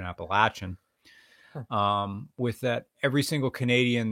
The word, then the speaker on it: Appalachian: with the Appalachian Trail excuse me the correct pronunciation Appalachian with that every single Canadian that hikes the